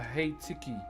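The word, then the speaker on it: heitiki: So remember what we're carving is called a hey tiki. H e i t i k i is how you spell it.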